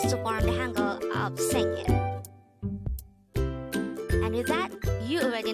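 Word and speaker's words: 생일: in korean the korean term for birthday is saying again this is pronounced as a two-suitable word the first robot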